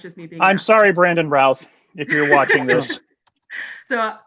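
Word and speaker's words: Routh: sure brandon is uh his last name is pronounced ralph rhymes with south okay right i've heard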